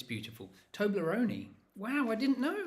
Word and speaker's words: Toblerone: You need to say the E on the end. Toblerone.